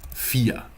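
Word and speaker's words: vier: you see the V this is sometimes pronounced like an F not always but in this case fear like the English word fear basically seven is C there's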